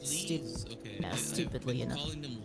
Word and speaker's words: leve: l e v s some people call them lovees some people call them it's pronounced leaves it's leaves okay stupidly enough calling them leses yeah I don't know at some point they